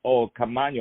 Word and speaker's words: Caamaño: Caamaño is spelled Caamano. Caamaño.